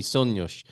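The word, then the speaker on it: sonhos: I made a mistake and they said no it's definitely Sonos dreams and I said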